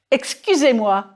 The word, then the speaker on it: excusez-moi: Your job now is to say E and then round your lips as though you were saying the oo of goose.